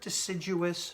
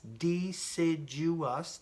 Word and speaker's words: deciduous: it says the temperate deciduous forests can you guys say that with me temperate repeat after me temperate deciduous dee Sid you us deciduous forest okay can you